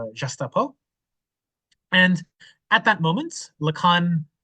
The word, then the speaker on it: Gestapo: it's in French uh and in French it's pronounced jasto and at that moment